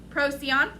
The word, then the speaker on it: Procyon: I'm pretty sure it's a soft C. Procyon. Close, I think. Procyon.